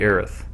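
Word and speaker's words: Aerith: I say I say Aries. Oh, no. However, was it How was it written? It was Aerys. It's Aris in F7. Yeah, Arith is how it's spelled. It's supposed to be Aith.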